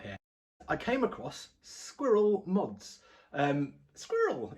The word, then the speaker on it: Sqiirl: Squirrel, it might be pronounced, but I think it's Squirrel because it's SQIIRL, SqiirlMods. I'll put a link in the description and maybe flash it up on the page magically.